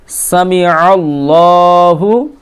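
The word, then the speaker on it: سَمِعَ اللّٰهُ: ওরকমটা করলে চলবে না এখানে আইনের উচ্চারণ করতে হবে সামি আল্লাহু দেখেন লাম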